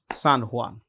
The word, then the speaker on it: San Juan: there yeah it is San huan Hanan the J is pronounced with an H so San Juan okay so this is